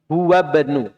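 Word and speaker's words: هو ابن: Ini wawunya langsung masuk ke ba. Karena ini adalah hamzah wasol ya. Sudah kita jelaskan. Aslinya ibnu karena dia adalah hamzah wasol, maka bacanya huwabnu. Huwabnul mudiril jadidi.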